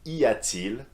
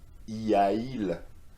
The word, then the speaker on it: y a-t-il: ease the pronunciation because it is much easier to pronounce y a-t-il than y a-il. You see how hard is it? I need to make an effort here. Y a-il, and it doesn't sound quite right?